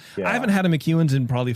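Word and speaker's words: McEwan's: It's like it's class McEwen's. How do you spell it?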